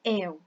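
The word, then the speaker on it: él: palavra e quer falar el. Mas a pronúncia correta dessa palavra é el. A letra E no espanhol ela é sempre fechada, não importa se está com esse acentinho aqui.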